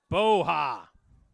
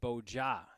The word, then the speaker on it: Boja: Boha with the tackle, but there is a flag on the play. Actually, Boja. You pronounce the J.